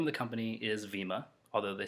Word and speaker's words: Vemma: The name of the company is Vemma, although they spell it V-E-M-M-A, so it should be Vemma, but regardless, that's the least of my concerns with them for right now.